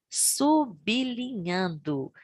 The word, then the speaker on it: sublinhando: portuguesa provei e sublinhando o texto atenção para pronúncia desta palavra sublinhando e não sublinhando como comumente ouvir né muita